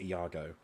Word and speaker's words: Iago: you eve sorry yeah it's not jargo it's iago but it's um it's it's like that it's iago i'm pretty sure because i think it's spelt the same way as the um shakespeare character no yeah iago yeah